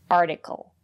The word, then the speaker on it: article: And if the syllable is not stressed, we pronounce the letter T as a fast D. Article.